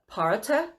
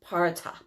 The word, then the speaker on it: Perchta: They have the Parata. And it's so weird because it's spelled Perchta. So I had to figure out how to pronounce that, but it's pronounced Parata.